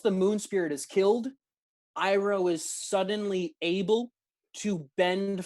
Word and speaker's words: Iroh: Yeah, I mean, and I think the correct term is Iroh, but oh, you are correct. Yes, Iroh.